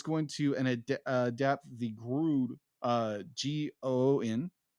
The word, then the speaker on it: Goon: Is going to adapt the Groon, G-O-O-N, Grown. G-O-O-N? Yeah, Grown. G-O-O-N is goon. Yeah, goon. I'm sorry. Goon. You said groon. Yeah. Goon. I'm sorry. Like, there's not an R in that word.